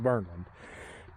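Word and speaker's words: Kverneland: with a k a c verland but it's pronounced verland dismore 6 foot long I need to put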